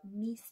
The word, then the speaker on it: mis: Now, months usually, but not always, have mis in front of them.